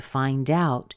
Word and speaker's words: find out: So to find out is a phrasal verb, and when you have a phrasal verb, you always stress the second part. That's one of the ways that we know it's a phrasal verb. If it's not a phrasal verb, you'll stress the verb and not the preposition.